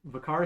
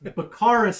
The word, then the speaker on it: Bakaris: it's a bar in bakar bakaris you added too many syllables and I'm just gonna strike that entire thing from the record I think I yes bakaris environment there you go